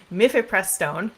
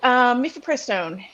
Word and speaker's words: mifepristone: So let's start with, I'm going to mispronounce this, but I'm going to try. Mifepristone.